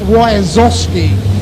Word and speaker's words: Wyazowski: But it's Wyazowski. Wyazowski. So WHYSOSKIE. Wyazowski is the phonetic way of saying it.